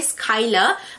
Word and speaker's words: Schuyler: Skyler. Kalau korang perasan, ejaan dia kan macam Skyler tapi cara sebutan dia Skyler.